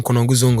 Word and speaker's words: Konongo Zongo: That's where I'm from, Konongo Zongo.